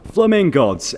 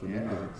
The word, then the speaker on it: Flamingods: Big up Fly FM, Alexander Greensmith here, joined by the band, the London Bahraini band, Flamingods. Hey up! What up? You said it right as well, Flamingods.